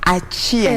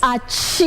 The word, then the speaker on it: Achieng: I felt like you didn't pronounce Achieng right. How am I supposed to do it? Achieng. Yes. Achieng. Hapo ndio kuna sukari hapo kwa Achieng.